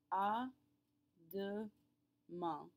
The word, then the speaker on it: à demain: À demain. À demain. That AIN at the end is all one great big nasal sound again. À demain. That it's nasal. We pronounce all 3 letters together.